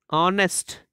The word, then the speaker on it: honest: But when we come to second example, honest. Here, H is mute and it produces vowel sound.